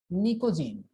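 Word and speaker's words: pnictogen: 15th group नाइट्रोजन family, नाइट्रोजन family, या इसी का एक दूसरा नाम होता है पिकोजीन, पी निकोजीन। पी साइलेंट होता है इसमें, निकोजीन।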